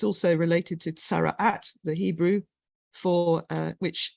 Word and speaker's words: tsara'at: It's also related to tsara'at, the Hebrew, for which, if you pronounce it the Ashkenazi way, is saras, which is related to leprosy in the Bible.